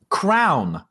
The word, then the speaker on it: crayon: How do they pronounce crayon? Crown, like King Henry VIII and his crowns.